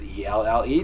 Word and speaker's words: Elle: And Elle is just Elle. Yeah. So just Elle. Don't try to spell it out like I did. I thought I said, is it E-L-L-E? No, it's Elle.